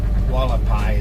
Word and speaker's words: Hualapai: Hualapai is spelled Hualapai. I don't know how they get the W on front of the H, but Hualapai is how they say it.